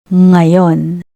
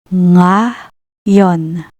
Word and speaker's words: ngayon: It's similar to the NG in English words like wing, sang, or ringing.